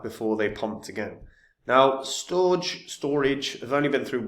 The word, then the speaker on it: Storj: of it try the service out guys Right Storage I know it's pronounced storage but so um already at a